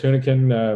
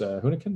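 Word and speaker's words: Hunichen: Chris Hunican was Hunican, I believe is how it's pronounced.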